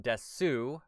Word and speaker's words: desu: And it's also spelled desu, not des, though it is pronounced des.